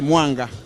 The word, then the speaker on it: Mwanga: But it's pronounced Mwanga. Here it's called Mwanga. Is it? Yeah, I mean, it's just semantics, really, because it's Mwanga. I think it's Mwanga or Mwanga, depending on how it rolls easy on your tongue.